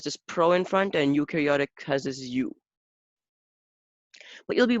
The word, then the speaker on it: eukaryotic: cells so we have eukaryotic cells here and we have prokaryotic cells so their names are complex complex i get it so u u is pronounced like letter u care is pronounced as